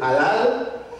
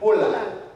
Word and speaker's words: halal: Il y a des gens qui prononcent halal, mais hébreu prononce Holal.